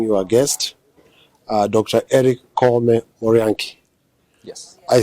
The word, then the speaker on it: Koome: Eric Koome Morianki.